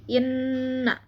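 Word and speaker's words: إِنَّ: Nah, kemudian kata yang selanjutnya yaitu inna. Ini hukumnya adalah gunnah. Nah, kenapa disebut gunnah? Karena nun bertasydid. Cara membacanya yaitu dengung dengan ditahan sampai 3 harokat, jadi inna.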